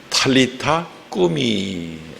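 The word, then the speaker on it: Talitha koum: 본토 발음으로는 탈리타 꾸미, 소녀야 탈리타 꿈이 일어나라, 꿈이 일어나라 이런 뜻이 됩니다.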